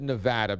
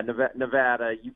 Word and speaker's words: Nevada: So you just, but yeah, Nevada. If you start fumbling that and going soft on the A, it's going to be a long day.